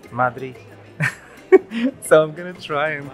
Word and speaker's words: Madrid: And I've also learned that apparently it's not Madrid, or it's not Madrid, it's Madrid.